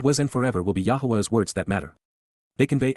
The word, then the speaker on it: Yahowah: apart from, min, except, Yahowah, Yahowah, the proper pronunciation of the name of Eloah, God as directed in his Torah, teaching regarding his Haya, existence and our Shalom, restoration.